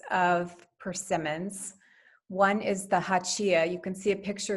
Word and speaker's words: Hachiya: So Hachiya, and that's how you say it at the top, Hachiya, is, as I said, large and shiny, shaped like an acorn or a heart.